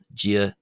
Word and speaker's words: Dia: So, the first d in g is slender and the second d in ditch is broad. Now to somebody who whose native language is English, such as myself, you'll often hear uh that the D in g sounds like our something like our English uh J sound.